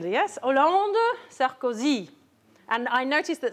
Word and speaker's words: Hollande: Hollande. And? Nice final stress. He's not Sarkozy or even Sarkozy. He is merci Sarkozy. Okay, so French, the stress is always at the end. Yes, Hollande, Sarkozy.